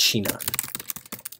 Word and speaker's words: Sinon: Sheena we're gonna import I've got its anon in the past but it's apparently pronounced Sheena so we'll import chignon